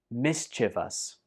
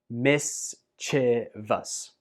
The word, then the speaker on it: mischievous: Mischievous. Mischievous. Mischievous. I have heard this word pronounced as mischievous, which I think is also